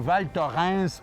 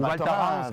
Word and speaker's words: Val Thorens: Val-Thorens, bien prononcé comme les Français. Ou Val-Thorens, comme on dit au Québec.